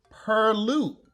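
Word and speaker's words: purlieu: just do what i just did all right pronounce the word p u r l i e u per loop correct goddamn right is correct definitely a french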